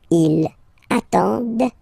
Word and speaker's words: attendent: And the last one, same thing, classic ending for il, elle at the plural form, ENT, but then you don't pronounce them. Ils attendent, okay, so remember you get to pronounce this, the D at the end, okay, elles attendent, alright,